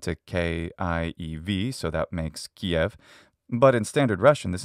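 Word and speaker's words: Киев: k-i-e-v so that makes kiev but in standard russian this is in fact pronounced kiev and note that the final letter v sound is devoiced into an f sound but in ukrainian it's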